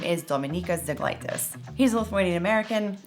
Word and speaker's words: Dominykas Zeglaitis: whose real name is Dominykas Zeglaitis. He's a Lithuanian American. I'm also a Lithuanian American. If you don't know how to pronounce his name, that's how you pronounce it.